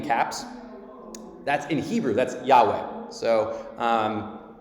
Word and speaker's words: Yahweh: R D in caps that's in Hebrew that's Yahweh so um it's more it's because they don't have vowels so it's yah is kind of How It's pronounced but um but it's essentially Yahweh that's that's what it is um and anyone